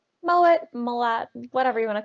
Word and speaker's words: Mowat: Mowat? Mowat, Malat, whatever you want to call it is fine. Doesn't matter Sometimes to me. W is pronounced like a V, but not in your case.